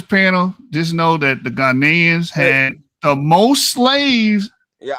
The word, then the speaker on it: Ghanaians: Ghanaians. That's how you say it. The proper way to say it, Ghanaians.